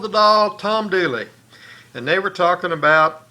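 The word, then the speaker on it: Dula: They spelled it D-U-L-A and pronounced it Dooley, but these dolls are D-O-O-L-E-Y, and the song was D-O-O-L-E-Y.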